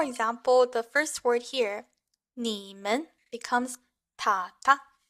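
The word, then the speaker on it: 你们: So, for example, the first word here, 你们, becomes ta ta. So this way you can tell the first character has the third tone and the second character has a neutral tone. So again, 你们 becomes ta ta.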